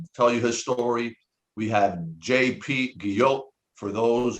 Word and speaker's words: Guillot: We have JP Guillot. For those, he mentioned Olga Guillot, and that's how you pronounce his last name.